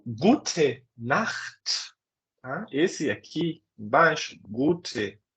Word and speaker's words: Gute Nacht: Então, Gute Nacht. Percebam que não é Guten, é Gute.